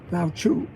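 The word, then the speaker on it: Lao: okay this is how you say his name Lau that's what it is lau lau that's he's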